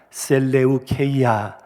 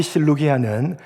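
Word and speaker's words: Σελεύκεια: 그렇게 건설된 대표적인 도시가 안티오크와 셀레우케이아, 한문식으로 발음하면 안디옥과 실루기아입니다. 특히 실루기아는 지중해 연안의 강대국들과 무역을 하기 위해서 의도적으로 만들었던 인공적인 항구 도시였습니다.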